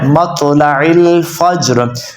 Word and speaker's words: مطلع الفجر: مطلع تو ہے مطلع الفجر۔ اب اسے ایک دفعہ روان کے ساتھ پڑھ لیتے ہیں تاکہ آپ صحیح تلفظ با تلفظ ورڈ بائی ورڈ سیکھ لیں۔